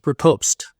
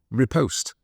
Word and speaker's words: riposte: It's riposte. Riposte, not riposte.